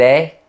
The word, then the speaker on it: est: À Paris, on dit « il est content ». Le verbe est prononcé de façon ouverte. À Toulouse et dans de nombreuses autres villes, on dit « il est content ».